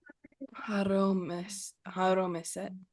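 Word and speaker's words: הרמשת: Say that last syllable. Set. Good. Say the whole word. Haromeset.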